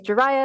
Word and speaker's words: Jiraiya: And as a little intro, like Minka mentioned, my name is Jiraiya. It's like Mariah, but with a J.